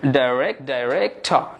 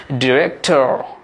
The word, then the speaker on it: director: উচ্চারণ করবো, তাহলে বলবো ডাইরেক্টর, ডাইরেক্টর। ডাই বলা হচ্ছে ডাইরেক্টর, কিন্তু আমেরিকান অ্যাকসেন্টে কিন্তু এই ওয়ার্ডটির উচ্চারণ ব্যতিক্রম হবে, এটা হচ্ছে ডিরেক্টর, ডিরেক্টর।